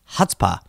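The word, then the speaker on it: chutzpah: again that's C h UT z 2z pah pronounced hutzpah the definition is audacity or impudence synonyms are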